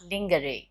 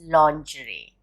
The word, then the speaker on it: lingerie: development development lingerie no this is the most mispronounced word it's not lingerie it's lingerie lingerie are women's undergarments pronouncing no it's not